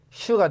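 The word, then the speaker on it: 实: 그러면 스에서 하나 더해 슈가 되죠. 슈. 그러면 이성입니다. 해봐. 슈. 스가 아니고 슈.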